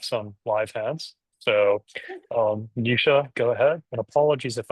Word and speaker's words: Nisha: So, um, Nisha, go ahead. And apologies if I'm mispronouncing your name.